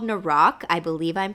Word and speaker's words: Noroc: And it is called Naroc. I believe I'm pronouncing that correctly. It's Noroc.